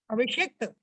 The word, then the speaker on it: अभिषिक्त: अभिषिक्त उच्चारण सही करो, सिक्त नहीं है। तीन सा होते, तीनों का अलग अलग उच्चारण होता है, तो आप अगर अलग अलग उच्चारण नहीं करना जानो फिर कंफ्यूजन आ जाएगा।